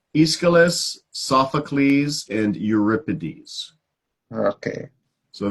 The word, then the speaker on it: Aeschylus: me these are ancient Greek writers so it's Aeschylus Sophocles and Euripides okay so they were playwrights